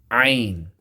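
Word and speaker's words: ع: Next, ain. Same place as ha, but pronounce it with a stress by going down deeper into the throat and give a squeeze to your throat.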